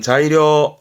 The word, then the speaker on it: 材料: 발음은 자이료 자료.